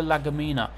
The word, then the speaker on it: Lagumina: He goes off, and Gumina, is that how you pronounce his name? Antonio Lagumina. He's the one that comes on in his place.